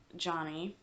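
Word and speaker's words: Yany: i about to say yanny stitcher or johnny it's pronounced with the j spanish pronunciations and such um it's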